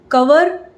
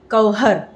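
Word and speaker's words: cover: वेज वेज ना कि वेज, नॉन वेज ना कि नॉन वेज, कवर ना कि कवहर। आप ध्यान से सुनिएगा हम क्या बोल रहे हैं: कवर, कवहर, रिमूवल, रिमूवल।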